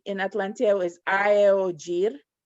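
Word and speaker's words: aeojir: For example, the word for T in Atlanteo is aeogir. It's a, e, o, j, i, r. So every letter is pronounced separately.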